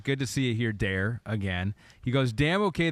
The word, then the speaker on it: der: our friend in Germany, Der Beobachter. Der Beobachter. We learned how to say it. You think so? You think you said that right? Yeah. It's not der, it's dare.